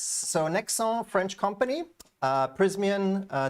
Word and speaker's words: Nexans: say it Nexans without the S? Uh without the S. So, Nexans, French company, uh Prysmian, uh despite the name, Italian.